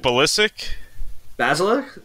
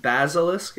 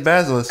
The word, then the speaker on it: Basilisk: Is it ballistic? Basilisk is what you meant? Basilisk? I can't pronounce that right. Wow, you're right. It actually is Basilisk.